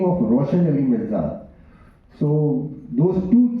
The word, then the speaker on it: Roshan: He was speaking Roshan Ali Mirza. Roshan is written as R-O-S-H-A-N, Roshan, but it is pronounced as Roshan.